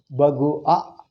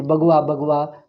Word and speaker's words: Bhagwa: Bhagua actually, because after O, A, two vowels without joining never come in Indian language. See, U and A, how do you say? Automatically it has to become Va, aage bidtade. It becomes automatic. But still they retained it. Bhagwa, they say Bhagwa. Pronouncing is difficult. Va comes automatically.